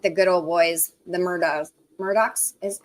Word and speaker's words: Murdoch: Yeah, Hugh said, just like the good old boys, the Murdochs is, how do you say their last name?